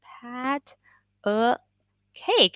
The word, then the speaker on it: patty cake: of pada cake and when you say it fast it's patty cake so it's pat uh cake and my friend literally